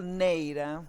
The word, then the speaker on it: Neira: I'm not sure if I ever pronounced that right, Maria, but It's more beautiful Neira, but it's Neira. not easy to pronounce, I Okay, thank you, understand.